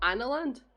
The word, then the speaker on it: Analand: Can you pronounce that starting area? What, Analand?